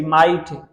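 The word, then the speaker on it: might: throw, thought, British and और American accent में pronunciation में थॉट, टी जी एच, ठीक है, थॉट, एम आई जी एस टी, माइट, जी एस टी, माइट, यहाँ पर देखो एम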